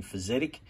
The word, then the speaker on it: Fysetc: of them was another difficult to pronounce name physic uh f-y-s-e-t-c i think so he uh ported over